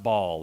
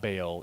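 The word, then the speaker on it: Baal: individual master or so it's actually pronounced ball it's not Bale it's ball so uh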